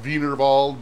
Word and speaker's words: Wienerwald: big German company called wienerwald chicken you know pronounced vinald but it was wienerwald and it was a really simple chicken and